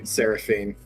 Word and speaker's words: Seraphine: So how do you want it to pronounce? Seraphina? Seraphine? Seraphine is what she's saying in the background, but she's busy typing something, so... Seraphine.